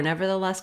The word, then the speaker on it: nevertheless: nonetheless the same patterning that helped you for nevertheless can help you here start with the stressed syllable less the less nonetheless so you get